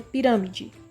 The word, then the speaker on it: pirâmide: Em pirâmide. Pirâmide. Pirã. Então, o rã aqui, por ele estar acentuado também, é a sílaba tônica.